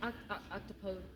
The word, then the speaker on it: octopode: It's technically phonetically speaking, fun fact, it's based out of Greek, so we say octopode, not octopus or octopi.